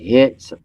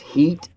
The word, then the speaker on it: Hit: some people call it hits but it's actually pronounced heat like h-e-a-t yeah belt h i